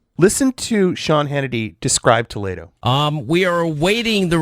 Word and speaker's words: Toledo: ] his last name is pronounced Toledo but did you notice Judson it's a little